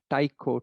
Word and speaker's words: Tycho: another brilliant astronomer named tico brahe so it's pronounced taiko tycho but it's the correct pronunciation is tico brahe so he was